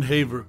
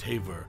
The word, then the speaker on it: Haver: a role in her life and career June Haver whose surname is pronounced Haver not hav was a notable figure in the